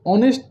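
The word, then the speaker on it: honest: अब यहाँ थोड़ा ध्यान देने वाली बात है कि ऑनेस्ट, ऑनेस्ट का उच्चारण अ आ रहा है इसलिए यहाँ पर ए न करके बल्कि एन का उपयोग करेंगे।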